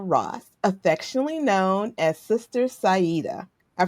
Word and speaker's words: Sayeedah: healing, Astred Cica Ross, affectionately known as Sister Sida. I pronounced that right?